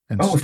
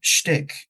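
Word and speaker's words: Stik: Oh, is that how you say it? I mean, I think you can say it both ways, if I'm honest, because my mum actually introduced me to him as an artist a very long time ago, and that's how she pronounces it.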